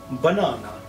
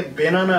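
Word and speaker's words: banana: About, again, along, বানানা। Interesting example, বানানা। আমি এটাকে ব্যানানা বলছি না, আমি এটাকে বেনানা বলছি না, কি বলছি? বানানা। অ্যাজ ইফ এটা ওখানে নেই, উচ্চারণই করছি না, সুতরাং এটা হয়ে গেল বানানা।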